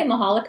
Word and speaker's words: Mihalik: Now, am I pronouncing that correctly? I say Mihalik, but it's fine.